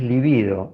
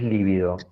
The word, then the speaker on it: libido: Sí, en realidad el término es libido, no es líbido. Líbido es un color, es libido, acentuado en la segunda sílaba, libido.